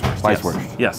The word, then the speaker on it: Weisswurst: We say Weisswurst. Weisswurst. Yes. But it's Weisswurst, if you're going to say it in Germany.